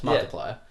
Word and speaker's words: Markiplier: It just never occurred to me that you have to pronounce that. Yeah, it's Markiplier.